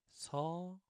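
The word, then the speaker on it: 소: Okay, so the main difference between so and shaw, there's that Y pronunciation, Y sound.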